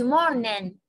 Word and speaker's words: morning: لا تقولي لي ليش ما قلتي good morning، لأنه حرف الجي لما يجي قبله N ما أنطقه، أقول good morning.